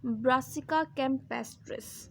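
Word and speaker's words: Brassica campestris: Scientific name है इसका ब्रासिका कैम्पेस्ट्रिस, ठीक है।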